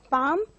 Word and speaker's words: palm: L is silent for the word palm.